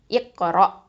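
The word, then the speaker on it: اقرأ: Okay, அடுத்ததாக வந்து பார்த்திங்கன்னா இது வந்து அதுக்காக என்ன பண்ணிடக்கூடாதுன்னா ஒரு ஸ்டாப் தான் கொடுக்கணுமே தவிர அந்த இடத்துல வந்து நம்ம அசைச்சிடக்கூடாது, கல்கலாக கொடுத்துடக்கூடாது. சரியா? இந்த ரா ஃபத்தா வந்து ஹெவியாக தான் உச்சரிக்கணும். இக்கரா இக்கரா.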